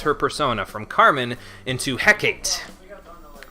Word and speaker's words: Hecate: persona from Carmen into Hecate. Or, as she pronounces it, Hecate, but I don't agree with that pronunciation, so...